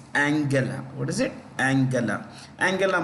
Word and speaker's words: Angela: autobiography of Angela Merkel it's not Angela it's Angela what is it Angela